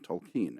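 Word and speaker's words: Tolkien: closest friendship was with tolken and I pronounce it that way because I believe it's the way he pronounced it yeah um later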